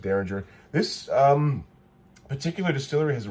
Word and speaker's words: Dareringer: Now this one, I thought it was pronounced Dareringer. Annie correctly pointed out it's Dareringer. Like the 70s band. Right, Dareringer, like the 70s band.